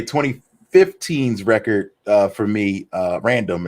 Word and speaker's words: RNDM: And lastly, I would say 2015's record for me, Random, it's spelled RNDM, is probably the record